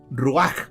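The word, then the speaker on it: רוח: Esta palabra espíritu es una palabra hebrea que es la palabra ruach o ruach. La H se pronuncia como J ya.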